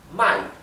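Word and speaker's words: 卖: se debe de pronunciar si ustedes cambian el tono pueden cambiar el sentido de la palabra por ejemplo fíjense esta palabra my significa comprar y my significa vender Para que vean qué importante que es pronunciar correctamente los tonos en mandarín bien significa comer por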